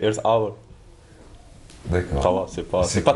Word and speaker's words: Earth Hour: Oui, en fait, ça se prononce presque comme en français, c'est Earth Hour.